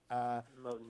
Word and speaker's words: Moten: But I am bewildered by Afropessimism, and by the way, by a couple of the other intellectuals, Monet, if I'm pronouncing that right. Moten, yeah.